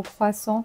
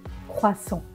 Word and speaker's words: croissant: On va dire sang. On n'entend pas le T. Croissant, croissant, un croissant.